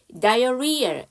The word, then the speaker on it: diarrhea: 그치 diarrhea H가 묵음이고요.